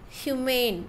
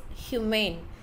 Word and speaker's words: humane: For example, moment, movement, except, expect, human, humane. So, most of the time, we will be pronouncing this also as human, but it is humane, human, humane.